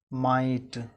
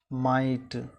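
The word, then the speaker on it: माटि: उसके बाद माटी, माटी, हिंदी में हम माटी पढ़ते हैं, दोषपूर्ण उच्चारण करते हैं। इसका सही उच्चारण क्या होगा, माइट। मैथिली में हम क्या उच्चारण करते हैं, माटी को माइट।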